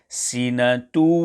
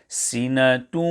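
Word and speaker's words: سِنَةٌ: For example, sinatu. This is incorrect. There must be joining, but also a heavy nasal sound made, as follows: sinatun.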